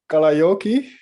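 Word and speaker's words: Kalajoki: have to pronounce the name right but in kalayoki yes that's very well pronounced okay what kind of town is that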